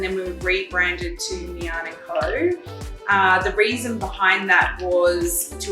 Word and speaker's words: Miann and Co: So it's pronounced Miann and Co.